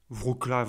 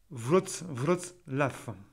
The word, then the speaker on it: Wrocław: Wrocław, vous pouvez prononcer Wrocław, hein. Wrocław.